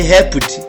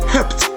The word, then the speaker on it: helped: When we have the verb to help, the sound is p. Help. That is helped. Don't say helped. No, that is not English. We pronounce as helped.